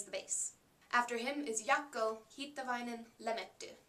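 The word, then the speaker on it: Jaakko: After him is Yakoin Lee if you pronounce his name the Finnish way and he plays the violin.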